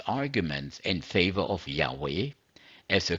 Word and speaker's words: Yahweh: then it offers its arguments in favor of Yahweh as a correct and original pronunciation this is from let your name be Sanctified Jehovah's Witnesses page 16 to 20.